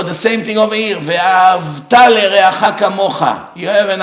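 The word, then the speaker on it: ואהבת: Ve'ahavta l'reacha kamocha means you used to love your friend like you love yourself, but you're not anymore. It changed the meaning of the word. You have to say ve'ahavta.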